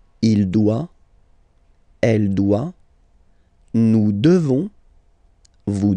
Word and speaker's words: devons: Nous devons. Okay? Classic ending O-N-S for nous. Okay? You just pronounce this on, O-N, this nasal. Okay? And then the S, final S, is not pronounced.